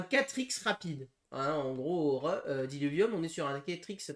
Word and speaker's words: Diluvium: Attends, ça s'écrit comme ça, Diluvium. Non, Diluvium.